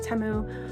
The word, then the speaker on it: Temu: I pronounce it Teimu, but some people pronounce it Teu.